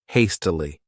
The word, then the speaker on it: hastily: This word has three syllables and the stress is on that first syllable. Hastily.